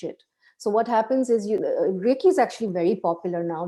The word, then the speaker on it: Reiki: Now you mentioned Reiki, or yes, is that how it's said?